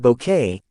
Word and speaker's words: Bucket: Born in 1929, she brought the iconic overbearing hyestin bucket pronounced bouquet to life with unforgettable charm and comic timing.